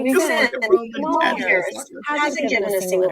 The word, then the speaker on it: Kamala: It's not Kamala. It's Kamala.